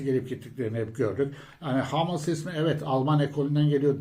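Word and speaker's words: Hummels: başka isimde humel arkadaşlar humes diye yazılıyor ama Almancada hamel diye okunur stoper biliyorsunuz Borussia Dortmund'un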